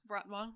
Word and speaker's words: Rotwang: it's spelled rotwang but I think it's pronounced R rotang rotang yeah something cuz he's German